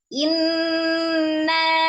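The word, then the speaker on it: إِنَّا: disambung lagi Kemudian Inna Inna ada Nun tasdid digunahkan Annanya dibaca Dua harakat ada Alif sebelumnya fathah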